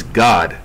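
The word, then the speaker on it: גד: And how do you pronounce Gad in Hebrew? It's God.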